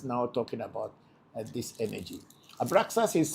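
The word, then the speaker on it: Abraxas: Abraas is spelled A B R A X A S.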